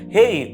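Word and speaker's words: ה: There we can see Hebrew alphabet, 5th letter of the Hebrew alphabet, hey, or it can pronounce ha.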